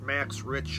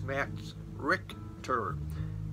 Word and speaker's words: Max Richter: I preached last week some said it's not max rich or it's Max Richter he's German ah see I do everything